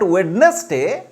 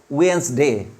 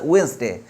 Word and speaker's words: Wednesday: have to stop from here this is not wedness day Tuesday comes after Wednesday not wedness day did silent de silent and S will be pronounced at Z okay Wednesday this is Wednesday Sunday Monday Tuesday Wednesday Thursday Friday Saturday Tuesday